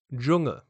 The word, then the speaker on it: Dschungel: So please ignore this horrible looking amalgamation of consonants and focus on how you actually speak it. German example, Dschungel. English example, judge.